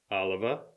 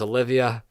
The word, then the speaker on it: Oliva: It was Olivia. Now it's Oliva.